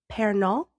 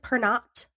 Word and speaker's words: Pernot: Also, his secretary, Victor Giglio, his chauffeur, René Pernot. Looks like Pernot, but I'm assuming it's French and Pernot. Like croissant.